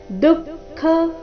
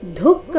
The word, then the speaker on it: ದುಃಖ: ತೌ ವಿದ್ಯಾ ದುಃಖ ಸಂಯೋಗ ದುಃಖ ಇಲ್ಲಿ ದುಃಖ ಬೇಡ ದುಃಖ ದು ಮೊದಲು ಅಲ್ಪಪ್ರಾಣ ನಂತರ ಖ ಮಹಾಪ್ರಾಣ ದುಃಖ ಸಂಯೋಗ ವಿಯೋಗೈ ಅನುಸ್ವರದ ಉಚ್ಚಾರಣೆ